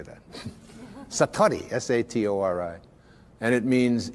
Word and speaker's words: satori: it's called Satori I'd love to say that Satori SAT Ori and it means instant awakening the